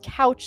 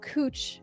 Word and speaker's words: Couch: It's called It's pronounce It's It looks like it says Couch Street, but it's Cooch Street.